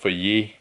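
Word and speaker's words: Fage: It says it's pronounced Feuillet. See right there, pronounced Feuillet.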